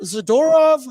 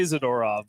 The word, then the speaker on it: Zadorov: Meyers and Nikita zadov zadorov how do you say I say zadorov I say zorov could be wrong today I'm pretty sure tyup saying zerov and it really really threw me off but he's not here